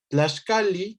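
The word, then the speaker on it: tlaxcalli: Tlaxcali, ¿no? Nada más aquí recuerden, las dobles L's se leen como una L larga, ¿no? Tlaxcali, y entonces nunca la vamos a leer Tlaxcali, ¿no?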